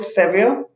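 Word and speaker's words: severe: Next word we have got इज सेवियर। सेवियर में देखिए are silent रहता है, ठीक है।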